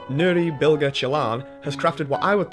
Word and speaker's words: Nuri Bilge Ceylan: but this is how I've been told it's pronounced. Nuri Bilge Ceylan has crafted what I would think was the exact film that he wanted to create.